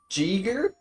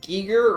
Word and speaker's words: Giger: Also, it's pronounced Jeeger? I don't think it's Or- Jeeger. Giger? It's pronounced Beaver. Is it pronounced Giger or Jeeger? A hard G. Okay, so Giger.